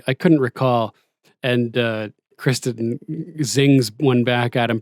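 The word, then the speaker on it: Criston: we mentioned before um when sir crispin shows up or crispin that's what he calls him kristen cole shows up and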